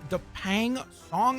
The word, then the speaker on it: Dapeng Song: So this is concept art that was shared by Dapeng Song, I believe is how you pronounce it. It's D-A-P-E-N-G, and then Song as in song.